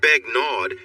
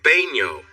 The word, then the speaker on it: Begnaud: It's not Begnaud, it's pronounced Baigno. The D? It's silent. Sarah tried her best to